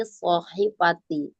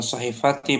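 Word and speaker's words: صحيفة: Alat thwilati shohifati. Bukan bukan shahifati bacanya. Shohifatun.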